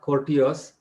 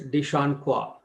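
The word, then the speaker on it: de Chancourtois: is spelled as d-e-c-h-a-m-c-o-u-r-t-o-i-s it is not cortius it is dishon kwa deshawn kwa i think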